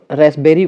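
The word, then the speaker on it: raspberry: इन रसबेरी and cupboard तो फिर इसके हिसाब से अगर देखें तो फिर पी ही साइलेंट हो रहा है क्योंकि इस वाले में तो रसबेरी कहा जाता है तो कबर्ड हो जाता है कबर्ड तो यहां प नहीं निकल रहा है तो यहां पर पी जो है साइलेंट हो जाएगा व्हाट इज द फेमिनिन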